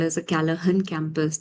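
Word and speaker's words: Callaghan: is called as a Kalahan campus. The G is silent here. So it's called the Kalahan campus and it is spread across more than 300 acres of land.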